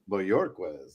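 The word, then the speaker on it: Bojorquez: I'm embarrassed of this, but I never asked him the pronunciation of his last name, man. All right. Bjorquez. Is that how you say it? Bjorquez.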